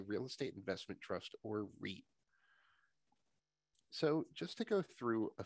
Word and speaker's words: REIT: real estate investment trusts which are pronounced reits knowing how to pronounce